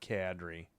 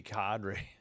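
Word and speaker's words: Kadri: I've heard I have heard somebody say Cadri and I'm like it's not Cadri. It should be Cadri.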